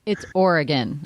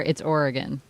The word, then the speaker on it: Oregon: And then, of course, he completely smoked her in, do you pronounce it Oregon or Oregon? It's Oregon. I lived there. It's Oregon.